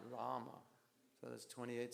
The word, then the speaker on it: Rama: devotees chant 28 syllables because they chant ram ram ram not Rama so that's 28 syllables